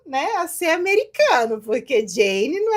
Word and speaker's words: Jane: Ela me falou aqui, me corrigiu como que é a pronúncia do nome dela, não é isso, Jane? Eu vou falar Jane, Jane isso algumas aí, vezes.